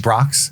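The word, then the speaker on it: Brach's: But there's also uh some BR's bird eggs there. That's that's the candy they were nominant. Do you remember those? No, I think I'm pronouncing that right. Oh, Brocks.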